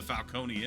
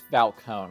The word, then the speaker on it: Falcone: I would just say Falcone because that's how it's spelled, and it's like Corleone, you know, like the Godfather.